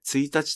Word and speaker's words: 一日: これまでの説明でなぜ 1 日と発音されるよう